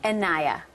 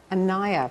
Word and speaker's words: Anaya: Pronounce her name, because I was afraid of getting it wrong. Anaya. Anaya.